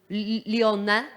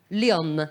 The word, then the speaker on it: Lyon: I don't know how to pronounce that in French. Lyon. Lyon.